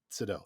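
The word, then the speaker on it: Seydoux: I don't know how to say her fucking last Sido. name. Sado, thank you.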